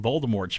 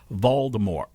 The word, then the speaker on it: Voldemort: and said it's pronounced voldemort there's no t there's no t there's a t at the end but you don't say the t but they do though